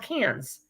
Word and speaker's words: Cairns: laughed at me because it's called Cairns. And Cairns is spelled Cairns. So tell me how that's Cairns.